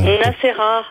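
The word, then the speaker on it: Nassera: Et prononce encore une dernière fois ton... Nacera.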